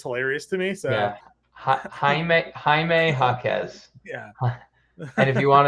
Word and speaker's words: Jaime Jaquez: Jaime Jaquez. So that's what I swore it was too, but I also just watched another stream that just called him Jamie Jaquez.